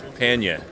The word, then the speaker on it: pannier: I say pannier. My favorite alternate pronunciation is panya, which would be New England.